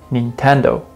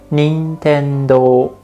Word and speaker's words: Nintendo: video game company nintendo most americans that i know pronounce it like i said nintendo nintendo but in japan we say nintendo nintendo i know it's pretty